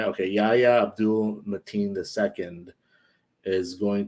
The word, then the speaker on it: Yahya: It's played by I don't know how to pronounce his first name. Is Abdul Mateen II. Yahya. Yeah. Yahya, is it Yahya? Okay, Yahya Abdul Mateen II is going to be the lead in the series.